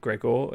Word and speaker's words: Grégoire: I'm assured it is pronounced Gregor. It is spelt Grégoire, but there we go.